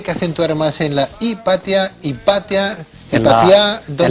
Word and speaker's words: Hipatia: jordi de donde era hipatia era y para ti si el nombre es correcto se equipa tía donde se pone el acento en el patio tal cual bueno en principio no lleva acento otra cosa sería según